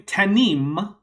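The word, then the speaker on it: תנים: little bit but anyway tanim with the m sound at the end means Jackal now there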